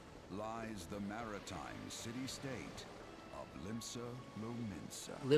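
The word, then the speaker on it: Limsa Lominsa: the Rotano Sea lies the maritime city of Limbsa Lmensa. Limbs lamemensa. Okay, so I was correct with the pronunciation.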